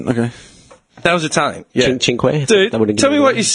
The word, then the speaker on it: Cinque: Cinque.